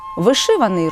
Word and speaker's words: вишиваний: звернімо увагу інше слово вишиваний має лише один наголос на другому складі вишиваний рушник вишивана скатертина вишивана